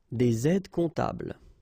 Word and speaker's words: des aides comptables: Un aide comptable, des aides comptables. Okay, same thing, you put this S and S here, but then you don't pronounce them.